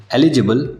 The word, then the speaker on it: eligible: एलिजिबल, इलेजिबल, दोनों words के pronunciation में थोड़ा सा डिफरेंस है।